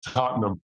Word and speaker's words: Tottenham: getting travel advice so and I believe it's pronounced Tottenham go Spurs I should have had you do